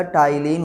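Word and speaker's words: ptyalin: पुराना नाम क्या है भैया सिलेवरी एमाइलेज का, याद रखिएगा, टाइलिन उसे कहा जाता है। अगर आपको दिक्कत हो रही है, ये पी साइलेंट है, तो क्या कहते हैं, टाइलिन।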